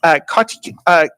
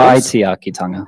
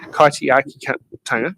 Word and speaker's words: Kaitiakitanga: How will you embrace kaitikaitanga? Apologies if I pronounce that wrong. Principles. Kaitiakitanga. Kaitiakitanga.